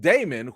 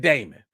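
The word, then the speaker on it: Daemon: made hella shots at Damon he was like listen we gonna do this oath even though some people aren't worthy of it even though some people name that name Rhymes rhymes with Raymond we don't like my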